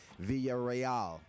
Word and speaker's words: Villarreal: 5:8 another wide-body 210 my Spanish failed me momentarily there I certainly known that that should have been pronounced Jesse Villarreal so it's a second